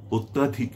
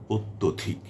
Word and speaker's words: অত্যধিক: বাংলা ভাষায় বাংলা অভিধানে অত্যাধিক বলে কোন শব্দ নেই। যে শব্দটি আছে সেটি হচ্ছে অত্যধিক। এবং এটি সঠিক শব্দ। আমরা সবসময় উচ্চারণ করবো, লিখবো, বলবো সেটা হচ্ছে অত্যধিক।